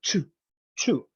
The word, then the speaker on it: chew: No, shoe. Shoe is for your foot, right? Shoe. In this one, chew. Right? Like a chew.